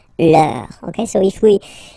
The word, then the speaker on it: leur: Okay, so remember, even if you've got this final S, you don't pronounce it, as it was the case already for this word, no, you don't pronounce the final S, vos, you don't pronounce it, leur.